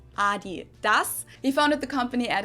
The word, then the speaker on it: Adidas: this one so yeah Americans say Adidas but Australia's always say Adidas hence where when I heard Americans say this for the first time I didn't understand at all what they were referring to because they usually pronounce it Adidas and in Germany we say Adidas Adidas Adidas but also